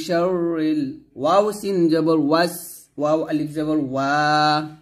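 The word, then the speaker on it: الْوَسْوَاسِ: এখন আমরা অনেক যে ভুলটা করি সেটা হচ্ছে ওয়াসে বলি, মানে সিনটাকে কলকলার মতো উচ্চারণ করি, ওয়াসে এরকম বলি, তো ওয়াসে বলা যাবে না, বলতে হবে ওয়াস ওয়া, এরকম ওয়াস বাতাস বের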